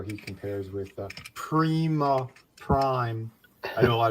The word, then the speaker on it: Prima: It's spelled P R I M A on the box. So that's Prima. And that that's feminine uh meaning of first. So that's what he was. If it was spelled P R uh Y- MA, then you got your uh your primer. But it's not. It's spelled for prima.